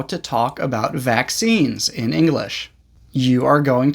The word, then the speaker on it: vaccine: Vaccine is a two-syllable word pronounced V sound, V, short A sound, A, K sound, K, S sound, S, long E sound, E, and a final N sound, N. Vaccine.